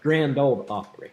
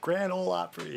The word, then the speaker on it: Grand Ole Opry: you nashville yeah yeah grand old opry grand ole opry yes the the d is silent all right so uh